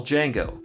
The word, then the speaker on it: Django: Redgrave, and the original Django, Franco Nero. The D is silent.